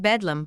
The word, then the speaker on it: Bedlam: howling and gibbering inmates the hospital's name pronounced Bedlam by the local people has come to mean